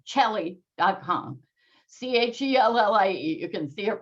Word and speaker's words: Chellie: Chellie.